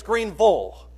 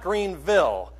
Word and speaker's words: Greenville: And the very first person said, "Great sermon, but you know that it's Greenville, not Greenville."